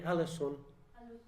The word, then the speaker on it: Alençon: Forgive my French, but Alençon, I don't know how to say that. We have a French... How do you say it, Marie-Hélène? She was born in Alençon. Yeah, Alençon, okay.